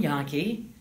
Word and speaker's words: Jahnke: give me your name and title and and spell it as well sure absolutely yaki farm director Midwest farm report Radio Network last